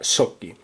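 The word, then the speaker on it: Schottky: diodos scotty o soki hay que tener cuidado con la pronunciación porque hay dos que se pronuncian de manera muy parecida entonces para diferenciarlos yo digo scotty pero eh el nombre correcto sería Shoki como sabéis por vídeo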